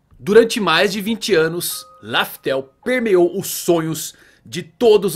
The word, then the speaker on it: Laftel: Pois bem, não é bem Laftel o nome, não é esse nome que usamos durante todo esse tempo. Alguns utilizavam Raftel por conta da pronúncia do L que acaba virando R.